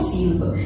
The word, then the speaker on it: sílaba: Por exemplo, a palavrinha sílaba, sílaba. Então, o pedaço aí, né, na sílaba que tem mais força aí, né?